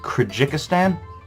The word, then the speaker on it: Kyrgyzstan: I know it's pronounced Kyrgyzstan, but it's written like some fucking Superman homeworld.